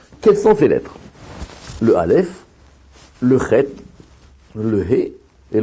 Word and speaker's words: Aleph: Quand on prononce Aleph, c'est vrai que la lettre, elle est plus en haut, mais c'est une lettre gutturale légère, on va dire, Aleph.